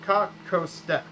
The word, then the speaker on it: kako ste: So kako ste. There. The H isn't there in this, but it has the but in the Croatian language it's pronounced as that.